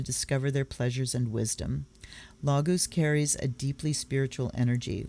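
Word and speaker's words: Laguz: and when they traveled lagoose pronounced lagoos is the rune of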